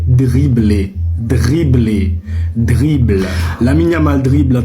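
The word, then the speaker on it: dribbler: Non, ce n'est pas trible. Ce n'est pas triblé. Pourquoi vous faites ça ? Le mot n'a rien demandé. Il s'écrit avec un D. Donc ce n'est pas tribler. Arrêtez de faire ça messieurs. C'est dribler.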